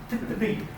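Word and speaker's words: पितृ: You just got to make sure your tongue curls up for the ri. Pitri.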